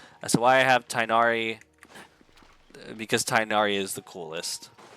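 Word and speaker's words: Tighnari: I have tigari tinari I know it's tyari there's a lot of names I'd rather pronounce different ways that's why I have tinari because tinari is the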